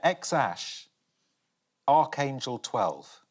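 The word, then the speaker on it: X Æ A-12: Anyone want to have a stab at how to pronounce that? Is it X-Ash A12? Yeah, X-Ash, Archangel 12, Musk.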